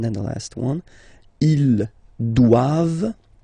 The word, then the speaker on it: doivent: And then the last one, ils doivent. So same thing, classic ending for the plural form, E-N-T here. Okay, but then you don't pronounce it.